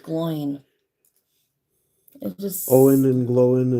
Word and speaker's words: Gloin: I had to grab a Glowin. I always thought it was just because. pronounced Gloin.